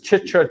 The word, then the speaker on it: Chitra: or your box turtles the colognian HUD says Chitra Chitra absolutely by the way did you notice the way that I pronounced that so when we talk about colognian